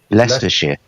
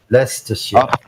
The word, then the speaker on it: Leicestershire: let me do it right let's just yeah leicestershire leicestershire leicestershire leicestershire okay guys Worcestershire Worcestershire Hampshire Yorkshire Yorkshire